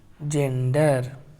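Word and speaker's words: gender: उसके बाद ई को नहीं पढ़ेंगे, ई साइलेंट है इसमें। उसके बाद रा पढ़ेंगे। हो गया जेंडर, इस तरह से पढ़ा जाता है जेंडर।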